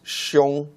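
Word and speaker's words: 兄: genesis record tells us this is the Chinese word for the older brother it pronounced shown and this is also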